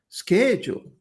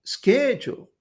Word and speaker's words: schedule: idioma y dice, "No, eso se dice chedule, no se dice chedule, se dice sketchu." Ah, y no me resuena con lo que está escrito, pero conforme va pasando el tiempo, schedule, schedule.